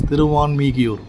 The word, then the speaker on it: Thiruvanmiyur: Since Valmiki was blessed here, the place was to be known as Thiruvalmikiyur, which is pronounced as Thiruvanmiyur in Tamil.